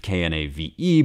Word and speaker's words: knave: But I need to pronounce consonants at the beginning of words, even if there's a double consonant. So we would say knave, K-N-A-V-E, but I learned here it's actually pronounced knave.